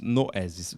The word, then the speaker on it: Noesis: Noesis é como se escreve como se diz, Noesis.